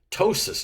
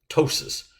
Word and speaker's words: ptosis: remodeling plasti surgical repair ptosis now in this case the p is silent ptosis drooping falling prolapse it's